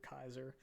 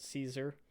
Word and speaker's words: Caesar: this looks like uh Caesar Kaiser so I I say the split because his name is spelled Caesar and some of the wastelanders call him Caesar but he himself and